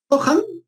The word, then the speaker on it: Johan: Johan, como Gohan, Johan.